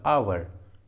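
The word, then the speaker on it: hour: For example आवर, आवर। Honest, honest. ऑनर, ऑनर, इन सभी words में एच सामने में है इसलिए एच साइलेंट है, एच का प्रोनाउंसिएशन नहीं हुआ है।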